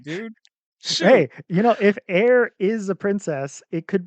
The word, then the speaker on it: Eir: air, pronunciation, like yeah, airy. right. The Norse pronunciation said it was pronounced ire, like fire without the Mm. F. But, Oh, like gotcha. like, the actual Japanese pronunciation is closer to air.